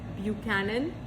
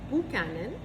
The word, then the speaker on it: Buchanan: So, Buchanan, pronounced Buchanan, not Buchanan, was founded in the late 1800s by James